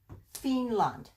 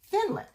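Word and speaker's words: פינלנד: gonna guess yeah okay this does not have a doggish in it so it makes an F sound theme lund Finland Finland and this is not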